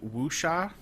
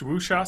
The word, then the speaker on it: Wuxia: uh films of the woo shot as I see it spelled yeah but it's pronounced wusha so this is Chinese it is Chinese because